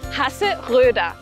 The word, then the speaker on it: Hasseröder: La O umlaut formando una O con los labios pero diciendo E. Y la R al final como A. Hasseröder.